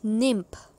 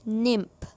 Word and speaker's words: nymph: Next one इज़ निम्फ, NYMPH, निम्फ। इसकी pronunciation है निम्फ।